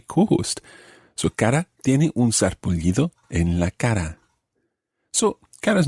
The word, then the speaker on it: sarpullido: Un sarpullido, sarpullido, it's got a double L sound at the end there, sarpullido.